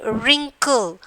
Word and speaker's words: wrinkle: And then wrinkle. And then W is the silent red. We are leaving that. W we are not pronouncing.